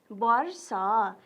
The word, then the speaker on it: वर्ष: हेर्नुहोस् त, वर्ष हामीले भन्दाखेरि के गर्ने? ब भनेर उच्चारण गर्ने, तर लेख्दा वो लेख्ने।